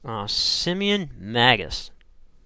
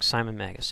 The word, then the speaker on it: Simon Magus: And there was a gentleman by the name of Simeon Magus. Probably pronounced that wrong. Simon Magus.